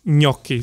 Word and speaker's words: gnocchi: time so I remember me okey okey so it's spelled G n o c CH i na ki so that G n makes a coochie it's